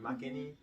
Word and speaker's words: Marckenny: Isn't that Marckenny? Marckenny? Marckenny? Yeah, that's how you say it. Like, that's the real pronunciation. Marckenny.